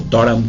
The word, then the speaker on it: Durham: un grupo en la Universidad de Durham, o Durham, como pronuncian los ingleses, que se dedicaba a